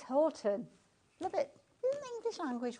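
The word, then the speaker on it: Houghton: We're up here in the northeast in Newcastle. We pronounce it Horton.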